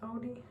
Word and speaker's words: Audi: Um, Mercedes, um, Volvo, BMW, like Audi. Is that how you say it in English? Audi.